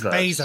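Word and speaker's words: Blair: Blazer, because I always want to say now Blazer, you got but me there's no L there.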